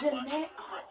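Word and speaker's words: Jhené: pronounce her name. It's Janae.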